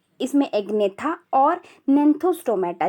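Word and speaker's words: Gnathostomata: इसमें एग्नेथा और नेंथोस्टोमेटा, जी साइलेंट होता है, नेंथोस्टोमेटा एंड एग्नेथा।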